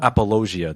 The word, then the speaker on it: apologia: Apologia? Yeah. Yeah. Oh, apologia. That's how it's pronounced.